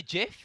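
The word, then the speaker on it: GIF: please don't sue us did you call it a jiff yeah their guy who invented them said it's pronounced jiff yeah he can't speak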